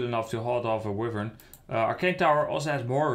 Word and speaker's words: wyvern: the river and the wyvern it's pronounced wyvern is it flying over